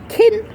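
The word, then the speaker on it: cŵn: key key is dog kin is dogs king without the G for King even though dogs are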